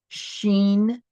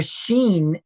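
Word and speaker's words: שין: The sheen is actually pronounced sh.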